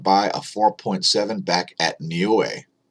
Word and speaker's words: Niue: So 5.3 at Niue is next on the list.